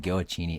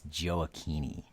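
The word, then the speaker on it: Gioacchini: people would say it's by the way it's i said goachini it's joaokini sorry okay that is very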